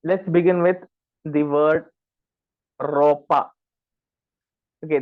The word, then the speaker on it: ropa: begin with the word ropa okay the thing about R is any alphabet that starts with r you need to drag that r a little bit more first of all this